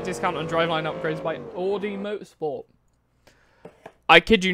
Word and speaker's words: Audi: i would understand if someone said would be aud if someone went aud no it's audi like that's all it is but audi audi where'd you like for you to pronounce the or sound requires there to be at least an o present there isn't even an